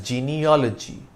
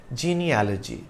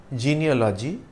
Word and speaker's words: genealogy: To help remember the right pronunciation, we can think of it as gene plus allergy, genealogy.